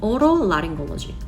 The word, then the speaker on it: otolaryngology: 뭐 이렇게 많이 얘기하고, ENT를 발음 어떻게 할까요? otolaryngology 이렇게 발음을 합니다.